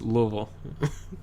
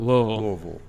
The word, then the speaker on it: Louisville: from and you know you're doing it wrong that's two syllables it should be just Louisville it's kind of like it's almost like one more together even one where it's it's one